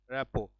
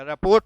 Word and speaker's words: rapport: तालमेल के लिए एक वर्ड आता है RAPPORT, रेपो। अब इसमें टी साइलेंट है, इसको आप जब पढ़िएगा तो रेपो पढ़िएगा, रिपोर्ट ना पढ़ दीजिए, अदरवाइज आप कुछ अच्छा बोलने जाएंगे लेकिन वो गलत हो जाएगा।